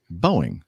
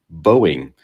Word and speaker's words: Boeing: talked about bowing or booing I'm not sure again still how